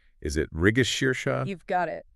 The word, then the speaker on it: Mrigashirsha: Is it Rigashirsha? You've got it. The stress is on that middle shir sound, and then a long sha at the end, migashir.